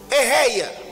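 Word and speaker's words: אֶהְיֶה: Je suis de l'hébreu veut dire Ehei. Ehei qui s'écrit comme E-H-E-I-E.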